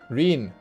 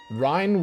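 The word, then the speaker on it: Ryne: I just say Reen the way they say Reen. I also said Rhine would have been how I would have pronounced it, yes. And I'm almost certain that when I first arrived here and I had to say the word myself, I said Rhine, like rind, Rhine.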